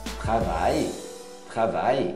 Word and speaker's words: travaille: Mon père travaille. Esse travail é como se fosse um I mais longo. Não é travaille. Não pronuncia nem o L nem o E.